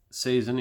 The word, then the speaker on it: Saison: Saison, French Saison in quotation marks, which is a French pronunciation, is a pale ale that is highly carbonated, fruity, spicy, and often bottle conditioned.